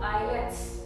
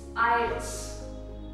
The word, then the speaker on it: IELTS: It's not IELTS as a lot of us like to say it. There's no E after the L. It's IELTS, International English Language Testing System.